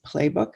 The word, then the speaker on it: Plebuch: So let's talk about the story that you led in with, Alice Collins Plebuch. Is that how you pronounce it?